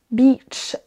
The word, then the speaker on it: beach: Vous voyez qu'il y a une toute petite nuance quand même dans la durée, la longueur de la syllabe. Donc attention, si vous voulez dire la plage, dites bien beach, beach. Il vaut mieux le faire un chouille trop long que de le faire trop court, sans quoi vous ne